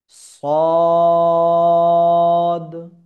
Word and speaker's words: ص: এবং মোটাভাবে আওয়াজ উচ্চারণ করতে হবে। মোটাভাবে আওয়াজ বের হবে, এই যে নীল কালার, ব্লু কালার, অর্থাৎ মোটাভাবে উচ্চারিত হবে। কিভাবে? صاد، صاد। তিন আলিফ বরাবর, হ্যাঁ, আপনাদেরকে দেখিয়ে দিয়েছি। এক আলিফ, দুই আলিফ, তিন আলিফ, হ্যাঁ। صاد، صاد। হ্যাঁ, এইভাবে আমাদের উচ্চারিত হবে।